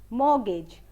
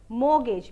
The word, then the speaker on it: mortgage: ठीक है, सो यहाँ पे ये वर्ड का मतलब होता है, the way you pronounce it is mortgage, mortgage, because the T is silent over here, so we are not going to count this T.